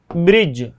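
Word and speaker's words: bridge: तो इसमें आप देखिए ब्रिज, ठीक है ना, जैसे ब्रिज हो गया तो इसमें जी से पहले डी आया तो इसका प्रोनाउंसिएशन, इसको प्रोनाउंस नहीं किया जाएगा।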